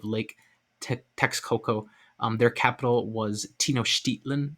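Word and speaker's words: Tenochtitlan: texcoco their capital was tino shtitlin i've also heard it pronounced tenochiklan which i think is more closer to the nahuwato the language that the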